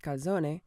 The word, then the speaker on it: calzone: reportedly to have originated in Naples czone properly pronounced kazone is also known as a stuffed pizza it